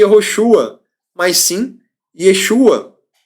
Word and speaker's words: Yeshua: diferente a pronúncia do nome mudou não é pronunciado mais comia roxo Ah mas sim Yeshua Deu para entender a mesma pessoa é o